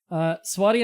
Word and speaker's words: Swadia: Swadia is pronounced Swadia, generally.